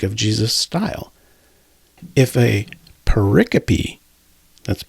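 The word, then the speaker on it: pericope: If a paricopy, that's p i c o p e, which up until a few minutes ago I pronounced paricope until I looked it up on Websters, but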